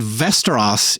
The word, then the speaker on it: Västerås: This is from a city called Västerås in Sweden. It kind of sounds like Westeros from Game of Thrones, but it's spelled differently